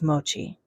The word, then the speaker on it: Mochi: Her name, at least as an English speaker would pronounce it, was Mochi.